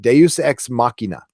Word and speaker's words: Deus ex machina: It took me forever to figure out how to pronounce that. Deus ex machina.